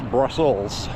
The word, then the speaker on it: Brussels: Most everybody pronounces that wrong. I learned that a long time ago doing radio and reading things on the air. Apparently I've come across Brussels sprout. It's actually plural, S, Brussels.